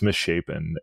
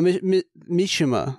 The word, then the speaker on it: Mishima: drop off for sure it's Mish shapen no Mishima is how you pronounce that and the next